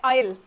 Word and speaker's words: aisle: और एक वर्ड होता है आयल, ठीक है. One word is एली and another word is आयल. लेकिन इसका स्पेलिंग आप देखेंगे क्या है? AISLE. लेकिन आप इसको कैसे प्रोनाउंस करोगे? आयल, ठीक है.